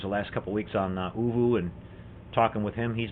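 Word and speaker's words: ooVoo: Mark Shue is asking, what is Uvu? Mark, it's a video chat program. It's a free program that's out there. It's spelled OVOO, all one word, all the letters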